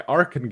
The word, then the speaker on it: Arken: It's developed by Arken Games, and I learned the pronunciation of that from the email I got, because they have ARKEN in parentheses after the name of the company.